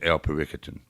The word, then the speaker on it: El Periquitan: And we've been talking about how you pronounce the Mexican restaurant. El Periquitan. It's El Periquitan.